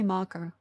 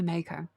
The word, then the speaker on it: Mako: I just say Marco. Half the other people say Mako.